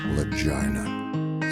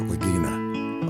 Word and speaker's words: Lagina: This here's story of a man named Vic Lagina. Some pronounce it Lagina, others say Lagina.